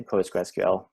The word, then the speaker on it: PostgreSQL: the in a pronunciation i say postgres mainly because it's easier to pronounce you can also say postgresql so those are the same they're interchangeable um so postgres is